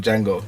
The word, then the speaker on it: Django: It's basically Jamie Foxx said it never happened, and then you know them Django, the D is silent.